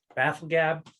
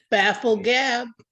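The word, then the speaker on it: bafflegab: lot of baffling goblins how do you pronounce that I have Colin glory to help get that pronunciation again all right baffle gab Apple dab baffle gab yes I guess even in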